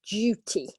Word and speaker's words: duty: Okay, so this DU in English often pronounced with a J sound. Okay, yes, exactly, Mohammed. It would be like it's a J. Okay, in British English. Okay, duty. Okay, or like June, sand dune.